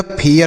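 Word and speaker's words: fair: देखिए, एफ से लिखेंगे फ। अब AI है तो इससे ए की मात्रा नहीं लिखेंगे। क्यों? क्योंकि R है, तो इसका उच्चारण ए करेंगे। ए मतलब ए की मात्रा, और यह लिखा जाएगा आर से र, तो यह फेयर पढ़ा जाएगा। फेयर बिल्कुल नहीं पढ़ेंगे, इसे फेयर पढ़ेंगे।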